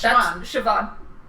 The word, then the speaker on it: Siobhan: but people don't know how to pronounce it. Yeah, that's Siobhan.